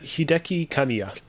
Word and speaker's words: Hideki Kamiya: would say it wrong uh it is uh Hideki kamiya kamiya which is the head of platinum games